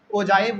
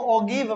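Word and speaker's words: ogive: And third हमारा होगा ओजाइव वाला और ये आपके सबसे लास्ट में दिया हुआ है। बहुत सारे बच्चे इसको ओगिव पढ़ते हैं, ओगिव नहीं, इसका सही प्रोनाउंसिएशन ओजाइव है, ठीक है।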